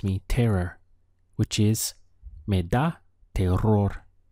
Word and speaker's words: terror: terror which is maida tail roar if you can try to roll your R's in the middle here they are or